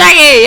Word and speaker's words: Psaki: Jen Psaki, was it? Psaki, that's it, Jen Psaki.